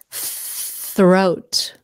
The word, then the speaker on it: throat: my neck hurts foreign throat remember that th sound th blow out the air throat throat throat I have